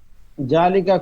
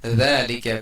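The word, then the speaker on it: ذَٰلِكَ: জালিকা কুরসিউন। জালিকা, জালিকা না, আরবি যেহেতু জাল নরম হবে, যালিকা কুরসিয়ুন, যালিকা কুরসিয়ুন।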